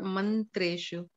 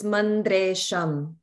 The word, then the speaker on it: mandresham: In the opening lines, the third line, Sano man, is it mandreshu or mantreshu? It's mandresham, sham, not shu. No, mandre or mantre. Oh, got it. It's a da sound, mandresham.